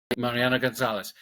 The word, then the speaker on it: Mariano González: Mariano Gonzalez.